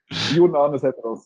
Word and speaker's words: Jonan Seteras: And today, our co-moderator is Jonan Seteras. Am I close this time? Yeah, well, it was closer last time, actually. Jonan Seteras, that's how it's pronounced. It's a Norwegian name, obviously, then.